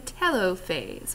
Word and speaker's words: telophase: We start with prophase, then metaphase, then anaphase, then telophase, or telophase, depending on your pronunciation. I prefer telophase.